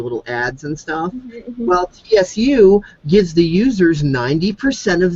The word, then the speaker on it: Tsu: that that I'm on called uh TSU it's some people call it sue however you want to pronounce it it's a really awesome